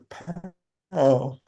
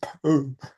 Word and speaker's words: Pau: We're in a town that's spelled PAU, so David and I say pal, Oh, but some people say poo, good. which I refuse to say.